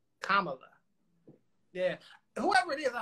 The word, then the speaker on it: Kamala: do you say it camella comment yeah uh she said it's like comma with a love you like the punctuation my comma look kamala yeah whoever it is